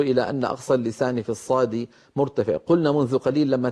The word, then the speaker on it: ص: وأيضا هنا أنبه على أمر بارك الله فيكم، من عيوب نطق حرف الصاد المنتشرة حتى بين بعض من يعلم القرآن. يا ريت الكاميرا تأتي إلى قليلا. بعض الذين يعلمون القرآن في عصرنا يستعملون الشفتين عند نطقهم لحرف الصاد، فيقول الواحد أص هكذا أص ويزم شفتيه إلى الأمام ويضمهما.